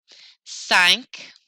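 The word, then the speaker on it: cinq: for now that's fine sank sank sounds like the Titanic sank a little bit CE say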